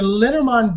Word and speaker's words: Lenormand: It's definitely I believe it's French. Mademoiselle Lenormand, and it's basically Le Normand. She's from Normand. Yeah. That's where she's from Lenormand.